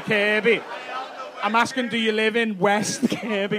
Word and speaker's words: West Kirby: Do you live in West Kirby? West, Kirby. West K-I-R-B-Y. Not Kirkby.